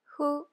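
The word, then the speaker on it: ふ: hu or fu so the pronunciation is kind of in between H and F hoo hoo this group is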